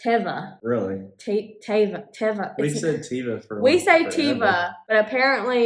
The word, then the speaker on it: Teva: for the same shoe and we always wear tivas but I also just heard that it's pronounced Teva really but apparently it's not pronounced that way